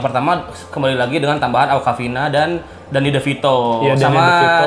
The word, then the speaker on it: Awkwafina: Itu dibaca Awkwafina.